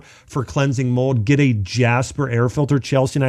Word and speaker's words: Jaspr: That's spelled JASPR, Jasper.